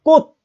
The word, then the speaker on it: 꽃: 치읓의 대표음은 디귿이죠. 디귿으로 발음합니다. 꽃! 그냥 단독음으로 꽃이라고 발음해봐요. 치읓을 발음하지 못합니다. 꽃 이럽니까? 아니잖아요. 꽃! 끝소리를 디귿으로 발음합니다.